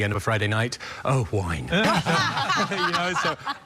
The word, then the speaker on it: Owain: realize that that was Owen and but is that the is that a Welsh spelling it's a Welsh name now if you want to be really Welsh it's pronounced oh wine so I always say